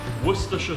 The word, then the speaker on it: Worcestershire: language first step is forget what it looks like forget what the word looks like it might look like well but i'm telling you it's three syllables worcestershire worse okay